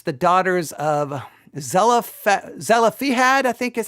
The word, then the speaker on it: Zelophehad: It's the daughters of Zelophehad, I think is how you say it. Zelophehad, Zelophehad, Zelophehad, and Numbers 27 and 36.